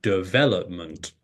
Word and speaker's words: development: of guess the pronunciation you might say development or you may say de de development whereas if you had listened for hundreds of hours before you started trying to speak then you would know that the stress syllable comes on the second syllable and you say development and you would know